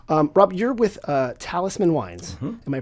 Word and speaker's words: Talisman: Wise Wise Choice um Rob you're with uh Talisman wines am I pronouncing that correctly that is correct okay it could be like some French like Teddy no Talisman Talisman wi uh and where is that R it's